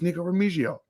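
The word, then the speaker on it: Nikko Remigio: that return slot and I think it's Nico ramizio I know he's Spanish so no you're doing fine that's exactly how I pronounce it although not that I'm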